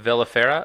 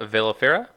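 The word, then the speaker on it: velifera: And so what's the status with your Pacilia vellifera? Vellifera? Am I pronouncing that right?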